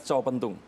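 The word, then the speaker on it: Retjo Pentung: Reco Pentung. Reco. Kalau TJ, bacanya C.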